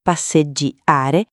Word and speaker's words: passeggiare: Passeggiare con passeggiare con la G doppia.